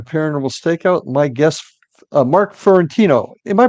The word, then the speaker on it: Fiorentino: My guest Mark Fentino. Am I pronouncing that correctly, Mark?